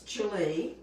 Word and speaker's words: Gwili: know much about me most people don't know how to pronounce my name again it's chili it's really not hard